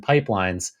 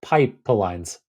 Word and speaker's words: Pypelines: would be an I, the second character in pipelines is a Y, emphasizing a kind of, I guess, a Python root for this AutoML.